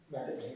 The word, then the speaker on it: McMahon: And well, Matt, thank you for I still get that last name incorrect, because I understand it's pronounced McMahon? Yeah. McMahon.